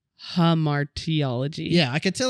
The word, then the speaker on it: hamartiology: it hamartiology harar harar there's only one R hamartiology yeah I could tell